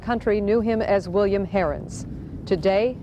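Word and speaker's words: Heirens: knew him as William Harens today Harens and his supporters pronounced the name hirens despite the Prejudice associated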